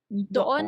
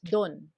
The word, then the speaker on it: doon: It's pronounced as doon. Doon. Though you Doon. will hear it a lot as don or dun.